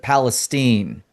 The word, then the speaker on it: Palestine: Well, there's So, also a Palestine, Texas, but they pronounce it Palestine.